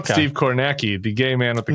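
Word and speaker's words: Kornacki: He's on NBC, but it's pronounced Cornaki. Oh, okay. Steve Cornaki, the gay man with the khakis. Khaki, it rhymes.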